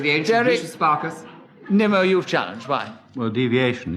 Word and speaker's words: Nimmo: Derek Nemo, who often pronounces his name... Derek Nimmo, why do you challenge? Deviation, the name is Nimmo, not Nemo.